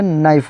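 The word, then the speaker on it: knife: वैसे ही के एन आई एफ ई यहां पर के नहीं पढ़ाएगा नहीं बोला जाएगा। यहां पे के साइलेंट है। यहां पे नाइफ हो जाएगा।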